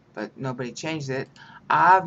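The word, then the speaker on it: אב: Av means father, haha. A-B is the spelling, but you pronounce the B softly.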